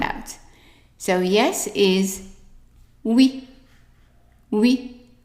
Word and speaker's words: oui: So yes is oui, oui. In French, OUI is pronounced oui. And also the UI is also pronounced oui. So whenever you see OUI, oui.